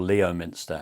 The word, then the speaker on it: Leominster: In 2008, a man went to Leominster police station, or Leominster as some people pronounce it.